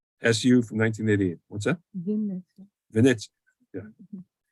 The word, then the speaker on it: Vinnytsia: Vinnytsia. Venezia. Yeah. Say it, pronounce it right? Vinnytsia.